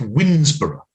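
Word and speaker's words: Woodnesborough: I live in Kent, and there's a place not far from me that is unfortunately pronounced Winsborough.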